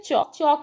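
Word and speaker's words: chalk: पर सर्कल करेंगे| नेक्स्ट है चौक में बच्चों एल साइलेंट है इस पर सर्कल करेंगे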